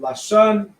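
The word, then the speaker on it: לשון: Um so if we was to pronounce it right, this will be the pronunciation here. Lashan, let me underline. or dash which translates to holy tongue right lashon would be the root word right um this uh the root word would be lashan right lash shawan would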